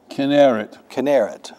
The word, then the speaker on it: Kinneret: In Old Testament times, it was Chinnereth or Kinneret, okay. Yeah, in the Old Testament, whenever you see a CH combined, pronounce it like a K. Except in Rachel and in cherubim. Otherwise, it's always K.